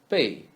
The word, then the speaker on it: 贝: 包, 宝, and 贝 is just like the word 贝.